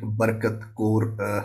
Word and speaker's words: Barkat Kaur: She is none other than Advocate Barkat Kaur Ratan, if I properly pronounced it.